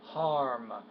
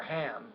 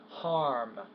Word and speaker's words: harm: For example, the word harm, not hum or ham, harm.